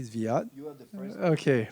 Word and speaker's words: Zviad: But I think as Zviad was, did I pronounce your name correctly, Zviad?